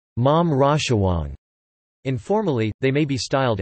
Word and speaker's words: หม่อมราชวงศ์: children of male mom Chou the title is pronounced mom Raja Wong informally they may be styled as Khun chai